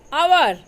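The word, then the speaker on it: hour: Wednesday, sign, com, knife, walk, आवर। First Wednesday में D, second sign में जी silent है, कॉम में B silent है, नाइफ में के साइलेंट है, वॉक में एल और आवर में एच साइलेंट है।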